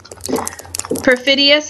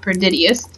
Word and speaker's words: perfidious: Perfidious again means like betraying the trust of someone, just being a complete traitor. Whoops, perfidious, not perdidious.